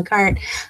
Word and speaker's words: Carte: And it actually, the simple reason is because I wanted to find a word that rhymes with art. And so I thought carte.